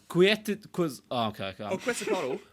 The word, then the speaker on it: Quetzalcoatl: Because I've forgotten how to pronounce it since. Quetzalcoatl.